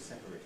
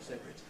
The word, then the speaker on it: separate: loss of a syllable so that separate is usually in set as two syllables but the verb to separate has to be three syllables just the same thing